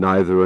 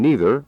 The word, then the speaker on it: neither: By the way, either and either and neither and neither are both correct pronunciations.